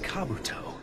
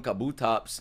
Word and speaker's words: Kabuto: God my name is Kabuto I'm his Co that's how you say his name bro I've been calling him Kabutops for years you know what I